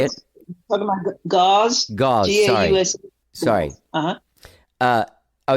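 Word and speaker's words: Gause: I actually Googled Grouse to find out where it is. That how you say it? Talking about Gauze?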